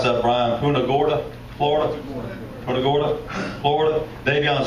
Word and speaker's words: Punta Gorda: Out of how do you pronounce that, Brian? Punta Gorda, Florida.